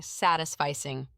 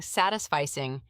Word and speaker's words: satisficing: And you've touched on a common mistake, mispronouncing satisficing. It's pronounced sat is fice with the emphasis on the first syllable. It's not satisfice like satisfy.